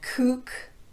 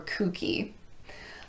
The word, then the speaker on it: kook: very commonly used words the most common exceptions that I can think of would be spook or spooky and Kook or kooky those are pronounced with the long u sound otherwise though you're simply